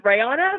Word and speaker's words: Rayana: for long enough for you to know it's reyana but whatever yeah that too it was great